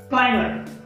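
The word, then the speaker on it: climber: याच्यामध्ये देखील बी हा साइलेंट लेटर आहे. ठीक आहे, त्याच्यानंतर बघा की क्लाइमर, प्रोनाउन्सिएशन आहे क्लाइमर.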